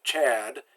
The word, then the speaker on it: Chad: Now if you wanted to put a ch sound, you'd have to put a T in front of the CH. Like the country Chad is spelled T-C-H-A-D.